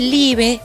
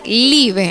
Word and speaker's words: Liebe: Y antes de contarme qué ofreces, quiero saber por qué se llama Live, qué significa.